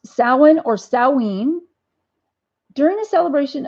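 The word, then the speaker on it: Samhain: h-a i-n and it's pronounced Sawa nor salween during the celebration of salen bonfires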